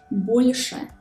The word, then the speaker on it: больше: These 3 consonants are pronounced hard when they are followed by a soft vowel. For example, like in the words больше. Imagine the air flowing under your tongue.